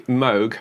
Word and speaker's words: Moog: in sounds I mean this is certainly not a Moog by any stretch or mug as some people incorrectly um pronounce it it's it just didn't